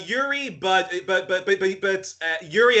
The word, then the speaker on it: Youri: born and uh and tell me if i'm pronouncing your name wrong it's yuri right it's uh uh yuri but but but uh